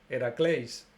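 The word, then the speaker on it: Ἡρακλῆς: Sobre Hércules, llamado también Heracles, nos dice que en griego es Heracleis.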